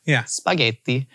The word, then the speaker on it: spaghetti: And every time she pronounced the word spaghetti, she had an American English accent throughout everything, but then would say like ricotta, spaghetti. And people would always give her crap for it. But Italian was her native language. And that is how you pronounce those words.